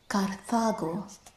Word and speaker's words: Carthago: I was spelling it with a C, which is still pronounced K in Latin. Here it's Carthago.